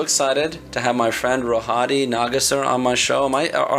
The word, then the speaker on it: Rohadi Nagassar: all I'm so excited to have my friend rohadi nagasar on my show my on our show am